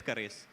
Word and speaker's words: Keris: Ibu Fili, and then I mistakenly said Curis instead of Keris, and then she immediately looked at me, so I had to correct myself. So yes, it's Keris.